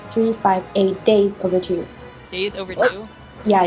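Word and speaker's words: 358/2 Days: I thought it was 358 over two that's all I say okay here's the right way to say it at least according to namura Kingdom Hearts 358 days over two days over two yeah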